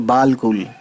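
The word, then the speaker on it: بالکل: तो यहाँ पे बे अलिफ लाम, ये इसको हम पढ़ेंगे बिल और अलिफ को हम कर देंगे silent. You know that very well. वैसे लिखा है ये बालकुल, है ना, बालकुल लिखा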